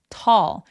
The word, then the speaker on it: tall: 그래서 여러분 스타벅스 가서 톨 사이즈 커피 시킬 때 톨 아니고요. 어떻게 발음해요? tall 이라고 턱이 엄청 길어지는 게 포인트예요.